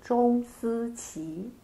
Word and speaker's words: Zhong Siqi: How would we pronounce correctly actually your names? Yeah, for my Chinese name is called Zhong Siqi.